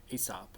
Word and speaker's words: Aesop: All right, number 2, Aesop, or Aesop, depending on how you want to pronounce it.